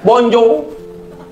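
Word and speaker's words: bonjour: Tulisannya bonjaur bacanya bonjow.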